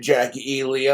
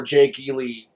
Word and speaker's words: Jake E Lee: bastard trying to shoot Jackie Ely. I'm like, I would have too, or Jake Ely. I've been saying it wrong all these years.